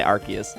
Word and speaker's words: Arceus: which is Arceus which is how you say Arceus um so I think that's really really cool